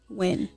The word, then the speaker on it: Nguyen: Nguyen. Yeah. Okay. It's more simple than it looks. Okay, because it's spelled N-G-U. It spells crazy.